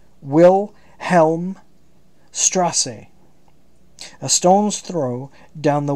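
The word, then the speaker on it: Wilhelmstraße: Wilhelm mustache what the this is pronounced wil Helm Strasse a stone's throw down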